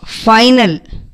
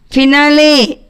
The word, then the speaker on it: finale: Next, final. It means end or last or conclusion. Finale means, we should not pronounce this as final or final. Finale.